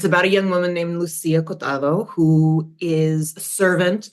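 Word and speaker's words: Luzia: Lucia. It's the Spanish as opposed to the Italian, yeah.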